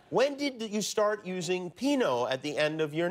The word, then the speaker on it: Pinault: They said, no, Pinault. No. Like the wine. Pinault.